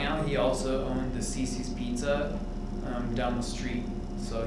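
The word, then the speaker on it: CiCi's: You're not supposed to sell burgers at Cece's Pizza, right? So it's spelled C-I-C-I, Cece's.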